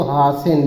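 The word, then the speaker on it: hasten: है सीटी आगे है एच ए एस टी इ एन तो इसमें टी साइलेंट है तो हासन लिखा जाएगा हासन ठीक हैप मंत्र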